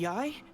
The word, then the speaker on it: Yae: And all is certainly not lost, for I received word not long ago that Lady Yae has taken an interest in your sensei's case. Okay, that's how you pronounce that, because that is one of the characters I heard of before.